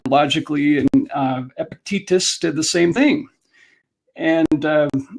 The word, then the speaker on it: Epictetus: teach uh stoicism was epithetus i knew i was gonna pronounce this incorrectly epictetus fortunately a professor from creighton university where i got my law degrees in the philosophy department there and he is helping us pronounce it correctly um but stoicism goes